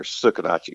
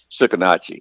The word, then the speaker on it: Sucarnochee: do you pronounce them tsukitachi it's spelled suc AR n och EE and it's a river down here tsukitachi you say tsukitachi and it's a it's a Choctaw word beats I used to